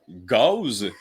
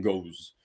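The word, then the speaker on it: Gose: m je bonsoir alors une Gause qu'on prononce Gause et non guse euh c'est une bière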